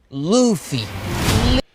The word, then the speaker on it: Luffy: But what you might not know is how to pronounce his name. It's Luffy.